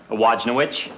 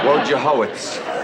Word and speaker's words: Wojciechowicz: Wojnowicz. Wojciechowicz. You say it just the way it's spelled.